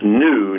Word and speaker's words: gnu: take some spelling lessons the animal spell GNU is pronounced new not good news I was wondering why